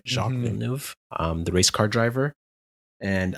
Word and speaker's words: Jacques Villeneuve: famous people that most Canadians would know is Jacques Villeneuve. If I pronounced right, Jacques Villeneuve, the race car driver, and Elvis Stoico.